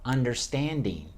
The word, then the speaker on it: understanding: I break it up into those separate words, basically. Put 4 words, take one word, chop it up, pronounce it as 4. Not a big gap. You don't want to say understanding, but you need a little break. Understanding, understanding. And then that gives you time to get a little air to pronounce the under, the D is strong, stand, ding.